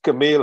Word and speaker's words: Camille: that has three syllables camille has two syllables but you know i'm